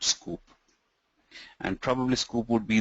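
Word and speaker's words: Sqoop: Scoop is spelled as S-Q-O-O-P.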